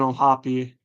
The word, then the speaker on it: O'Hoppe: Pretty sure, yeah, it's O'Hoppe. Correct me if I'm wrong, but yeah, it's not just O'Hop, right? Like the E has to. I feel like you got to pronounce the E.